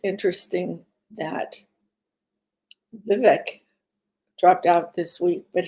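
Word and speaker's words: Vivek: I pronounce it correctly Vivic like cake VI ramasami I think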